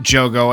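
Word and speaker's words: Jogo: right so starting with Joo and I just realized I've been saying his name wrong like the entire time I've been saying Jugo so I apologize to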